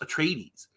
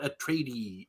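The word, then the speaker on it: Atreides: I'd only read it I didn't know how to how to pronounce a tradies um until I realized that in one of the in in one of Gurney Hallock's songs he actually Rhymes it with the word ladies that's the only reason I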